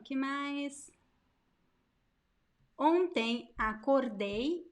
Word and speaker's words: acordei: Acordei, acordei. There is a diphthong at the end.